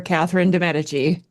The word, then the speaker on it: Catherine de Medici: And the second Katherine that we're looking at, you can say her name different ways, but I call her Katherine Demeti.